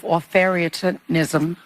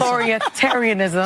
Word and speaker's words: authoritarianism: she was in Munich that she was there to point out the rise of authoritism. Did I say that correctly? Yes. Authoritarianism. Authoritarianism. So as you see women like Sunny cannot pronounce authoritarian. So, so she was she